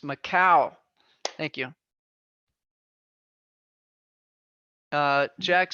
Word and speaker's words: Macau: Karen says it's pronounced Macau.